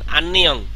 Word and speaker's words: 안녕: এই যে আন্নিয়ং হাসে, সবাই পারেন। আমি একটু উচ্চারণটা সহজ করে দিই। আ নিচে নিয়ন, আন, আবার নিয়নের পরে ইয়, নিচে ইয়ং, আন্নিয়ং।